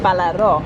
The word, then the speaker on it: Balaro: You always put emphasis on the last syllable, don't you? It's always like Balaro. In Greek it would be Balaro.